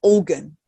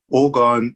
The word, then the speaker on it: orgone: And Richard, tell our audience, what is organ? Or how do you say it? It's orgone, or some term it as orgonite.